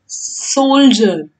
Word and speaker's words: soldier: सोल्जर। इसको हम कैसे रीड करेंगे? इसका स्पेलिंग है SOLDIER, बट हमको रीडिंग की तरह इसका प्रोनाउंसिएशन, इसका उच्चारण कैसा होता है?